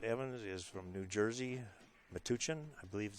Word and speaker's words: Metuchen: His opponent, Scott Evans, is from New Jersey, Metuchen, I believe is how you pronounce it, and he plays out of Ed Ladaw's room, Sandcastle Billiards.